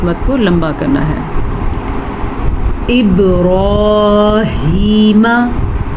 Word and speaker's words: ابراہیم: با پہ کلکلا ہو رہا ہے کیونکہ با سیکنڈ سے پیچھے والے حرف کے نیچے زیر ہے. را کو پر پڑھنا ہے اور ہا کے تلفظ کا بھی دھیان رکھنا ہے.